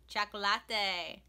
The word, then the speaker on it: chocolate: are poblanos and jalapenos chocolatte Mexico is a birthplace of chocolate pronounced choco latte in Spanish the ancient Aztecs enjoyed